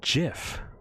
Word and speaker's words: Jif: the peanut butter brand is Jiff because that's how you pronounce that word and I'm sorry if you don't agree you are wrong however both are pretty much accepted at this point the king of nut